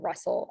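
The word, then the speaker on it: rustle: have like soul and if that comes at the end of the word it's usually spelled with a with a s-t-l-e so the examples are nestle um n-e-s-t-l-e and then russell r-u-s-t-l-e um so let's try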